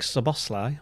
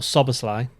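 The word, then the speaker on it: Szoboszlai: Uh, Dominic Sabosli or Susli as he's meant to be pronounced.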